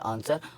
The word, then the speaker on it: answer: आगे देखते हैं डब्ल्यू साइलेंट, एस के बाद आया डब्ल्यू साइलेंट हो जाता है, जैसे ANSWER, ये हो गया हमारा आंसर, और इसको हम पढ़ेंगे सोल्ड।